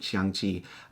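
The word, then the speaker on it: 象棋: That's the Chinese word for it, or how you pronounce it, Xiangqi.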